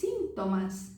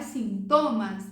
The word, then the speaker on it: síntomas: Então, por exemplo, sintomas, em espanhol se diz síntomas. Síntomas, não é sintomas, síntomas.